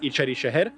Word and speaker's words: İçeri Şehir: Pronounced quickly, it's İçeri Şehir.